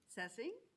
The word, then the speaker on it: Cesing: Tonight we have with us uh first of all, Robinwood principal Cesing. Rhymes with guessing and some of her and some of her excellent staff.